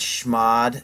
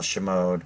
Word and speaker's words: chmod: come up with it if you said SH mod then you are a UNIX expert some people want to call Shimoda but is actually schmod